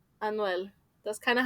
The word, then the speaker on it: Anuel: Anuel. Anuel. Thank you, Anuel. Anuel. Hey, hey. It might have been someone like that. I So think of it eventually, like Emmanuel, but like with a, like Anuel.